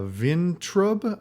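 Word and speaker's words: Vayntrub: and uh milana uh vintrub i believe is how you how she pronounces her last name um sam richardson is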